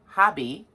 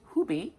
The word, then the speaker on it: Hobbii: Okay, so next, the next one that came was from how we say here in the States, Hobbii, how they say it over in Denmark, Hobbii.